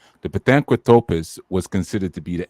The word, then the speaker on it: Pithecanthropus: So who falls in that anthropos category would be like your Pithecanthropus. That's how you say it. The Pithecanthropus was considered to be the ape man.